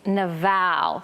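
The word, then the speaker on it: Nabal: to abigail's husband and i love the hebrew pronunciation of his name it's naval so just say it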